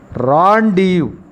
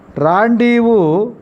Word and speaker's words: rendezvous: Rendezvous. Rendezvous is a correct pronunciation. This word we should pronounce, even though so many letters it consists, the silent letter is Z and S.